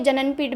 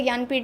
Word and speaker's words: ज्ञानपीठ: या आपको ये जननपीठ भी आप इसको पढ़ सकते हैं, वैसे इसको पढ़ते ज्ञानपीठ हैं, लेकिन इसकी स्पेलिंग आप देख लेंगे।